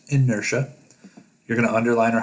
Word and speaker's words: inertia: then there's a section called inertia it's not pronounced inerdia it's pronounced inertia you're going to underline or highlight one part